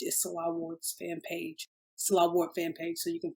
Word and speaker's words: Nselaa Ward: It's Nselaa Ward, but my name is spelled a little differently. The N is silent, so it's N like no, Nselaa Ward.